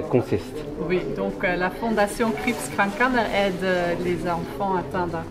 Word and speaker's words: Kriibskrank Kanner: Fondation Krebskrank-Kanner. Krebskrank. Voilà. Voilà. C'est pas mal. Pas mal. Et donc, est-ce que vous pouvez nous expliquer en quoi elle consiste? Oui, donc la Fondation Krebskrank-Kanner aide les enfants atteints d'un cancer Ok, ou